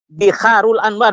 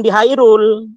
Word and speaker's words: Biharul Anwar: Ya, Biharul Anwar, bukan Bihairul.